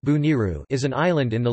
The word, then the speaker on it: Boneiru: Bonaire, pronounced or Dutch Bonaire, pronounced Bo-N-R, Papiamento, Boniru, pronounced Buniru, is an island in the Leeward Antilles in the Caribbean Sea.